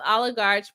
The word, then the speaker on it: oligarch: Trisha Lynn says, oligarchs pronounce like it has a K at the end.